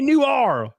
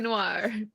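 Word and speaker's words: L.A. Noire: how to pronounce LA Noire either no that's not how you pronounce it it's so frustrating it is Noir listen I say that you say new are like it's a pizza yeah I don't know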